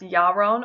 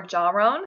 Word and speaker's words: Jaron: this name so much Jaron is a Hebrew name that means singing how amazing of a meeting is that this name can also be pronounced your own or jar own and I always think